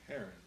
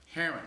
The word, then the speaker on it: Heron: not a fish so how do you say last name Heron Heron thank you like the bird like the bird not a fish the great blue hair